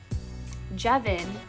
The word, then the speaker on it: Jevin: And so Jevin is a play on the word heaven. That's why it's spelled just like heaven, but with a J instead of an H.